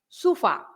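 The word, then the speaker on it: sofá: But because you have the accent on the A, so you have to stress the fa. So you say sufa, right?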